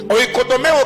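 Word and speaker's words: οἰκοδομέω: Oikodomeo qui s'écrit comme je le dis, ou comme je viens de le prononcer.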